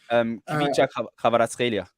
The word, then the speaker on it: Kvaratskhelia: Kvaratskhelia.